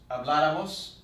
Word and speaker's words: habláramos: Habláramos con acento en la A.